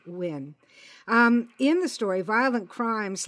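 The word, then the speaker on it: Nguyen: for our listeners that spelled ng u ye N and pronounced win in the story violent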